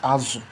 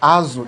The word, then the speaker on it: azụ: In Igbo, they call it azụ. Ezza is in Ebonyi State. They call it az, the same spelling but different pronunciation. So they call it azu in Igbo.